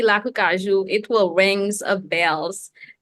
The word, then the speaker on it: Lakou Kajou: And I know, how is Lakou Kajou? Am I saying it correctly? Lakou Oh, Kajou. Lakou Kajou.